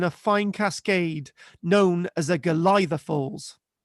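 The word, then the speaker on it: Golitha: river tumbles in a fine Cascade known as a glia Falls pronounce the galtha um is derived from the Cornish word for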